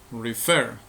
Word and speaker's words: refer: La sílaba tónica, la sílaba con mayor fuerza de voz es fer, refer, no decimos refer.